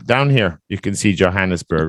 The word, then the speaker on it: Johannesburg: don't know how to say that but it's pronounced Johannesburg Johannesburg yeah it's a tough one to say Johannesburg